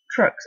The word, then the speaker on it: Truxxe: to play on work trucks is spelled t r u x e trucks as in truck stop a truck stop spacecraft